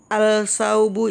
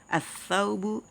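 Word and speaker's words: الثوب: Jangan bacanya gini. Al-tajiru, al-saubu, itu salah ya. Tapi langsung masuk. At-tajiru, as-saubu, ad-diku, dan seterusnya.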